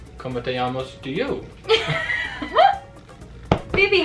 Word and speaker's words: llamas: I'd be like, ¿Cómo te llamas to you? Baby, how do you pronounce that double L? It sounds like a Y, but it looks like a llama.